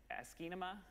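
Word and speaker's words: asciinema: pronounce it anybody ask ask anima a nice way to pronounce it that has the word cinema and ASCII in it and doesn't have ass and and other words in it but this is a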